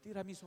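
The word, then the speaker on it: tiramisù: 여러분 띠라미수 아세요? 띠라미수 이 발음이 오리지널 발음이에요. 띠라미수가 이태리 말입니다.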